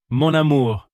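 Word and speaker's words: mon amour: It is monur means my and amore means love. So, monamour. Repeat it. Monamore.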